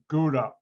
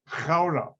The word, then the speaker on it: Gouda: Now, Americans pronounce that Gouda, where the cheese is from. The G in Dutch, the Netherlands, Dutch language, is not pronounced like an American G. The name of the city is really Gouda.